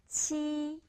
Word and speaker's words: qi: Number 7, qi. Qi. Qi. How to pronounce qi? It sounds like cheese, qi, but a little bit different.